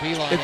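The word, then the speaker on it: Beilein: staff for many years at Michigan under John Beeline. So I shouldn't be getting his name wrong, right? John. But yeah, John Beeline.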